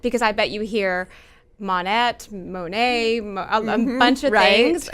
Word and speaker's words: Monat: you pronounce it because I bet you hear MA net mone muncher raised its modern nature right yes so does that mean mom Nate yes you're exactly right yes do you hear